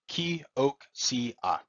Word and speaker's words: Kioxia: It is pronounced Kioxia, and Kioxia was born out of Toshiba in 2019.